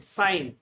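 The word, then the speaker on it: sign: Second word है साइन, साइन में जी साइलेंट रहता है।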